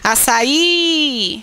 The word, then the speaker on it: açaí: Quando ele for a sílaba tônica. Açaí. Veja que ele que é a sílaba tônica, né?